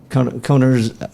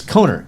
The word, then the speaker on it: Kohner: So, but David Kohner's. I'm gonna forgive me because I'm afraid that I'm gonna botch. It's Kohner. Is it Kohner? Yeah.